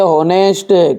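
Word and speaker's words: honest: पढ़ते हैं केट, इसे हम क्या पढ़ते हैं ऑनेस्ट की ऑनेस्ट, ऑनेस्ट पढ़ते हैं, ऑनेस्ट नहीं पढ़ता है, और इसे पढ़ते हैं आवर, पढ़ते भैयू।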